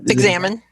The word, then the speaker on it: Examen: I'm saying that word, but how do you pronounce that? Examen.